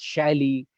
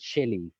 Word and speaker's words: Shelley: book on Shelley, and I would always pronounce it as Shally, and my father would always correct me with a smile that it is not Shally, it is Shelley.